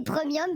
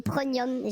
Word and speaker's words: premium: Bon, il a du mal à prononcer premium, visiblement, il met toujours un N, il dit pronium. J'ai jamais compris pourquoi, mais bon. Si ça lui fait plaisir, ça se dit pas comme ça, je pense, mais bon.